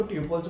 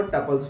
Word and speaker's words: tuples: pulse कुछ लोग इसको ट्यूबल्स बोलते हैं कुछ लोग इसको टपल्स भी बोलते हैं तो आपकी मर्जी है आप जैसे मर्जी इसको प्रोनाउंस करो लेकिन इसमें डिफरेंस क्या